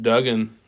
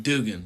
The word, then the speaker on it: Duggan: Man, Duggan, I love him. I think we're pronouncing his name wrong. Is it Dugan? Dugan, yeah. Okay, well, Dugan, I love you.